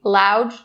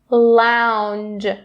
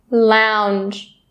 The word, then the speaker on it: lounge: little bit more careful, making sure that that n sound is really clear. Do not skip it or drop it. Don't say lounge, lounge, not correct. Lounge, lounge, lounge.